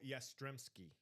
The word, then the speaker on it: Yastrzemski: Carl Yastrzemski.